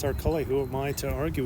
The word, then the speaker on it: Arculli: I've known her for 20 years, and I finally said, "How do you say her last name?" It is Arculli. Arculli.